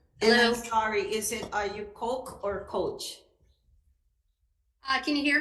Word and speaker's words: Koch: I'm sorry, are you Coke or Coach? Can you hear me? Yes. Sorry. I'm sorry if I admin- mispronounced your name. Is it? It's Coke. Coke like the Coke. soda, and I Okay, appreciate all right.